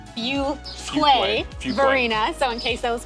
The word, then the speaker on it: Fuquay-Varina: And something else to know, it is not Fukuquay. Like a lot of people don't know how to pronounce it. It is Fuway Verina.